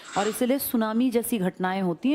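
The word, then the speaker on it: tsunami: कर रहा हूं ना सुनामी जापानी भाषा का शब्द है जिसमें टी साइलेंट लिखते हैं ऐसे बोलते लिखते हैं टी सुनामी बोलते हैं सुनामी।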